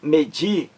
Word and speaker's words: medir: palavra oxítona e a o acento tônico o acento mais forte está aqui nessa sílaba de que é a última da palavra medir lá medir então o di